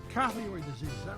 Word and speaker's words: carotid: Carotid disease, is that right? Did I pronounce it right?